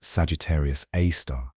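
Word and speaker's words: Sagittarius A*: A super massive black hole called Sagittarius A asterisk pronounced Sagittarius A star surrounded by a dense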